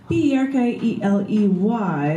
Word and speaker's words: Berkeley: That's B-E-R-K-E-L-E-Y, like you're barking, Berkeley, you're barking up the wrong tree.